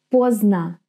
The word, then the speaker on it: Поздно: Поздно. Поздно. Поздно. Here we have this D, which actually disappears. And you just hear поздно.